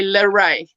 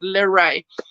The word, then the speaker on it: Lere': and second names and combined it to say la rei very similar to renee same pronunciation but le rey and that's what i've been called all my life i've been called larae but it's a great